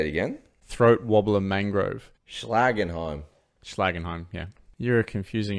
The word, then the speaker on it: Schlagenheim: If you can't pronounce it, you can't slag it off. Slagenheim.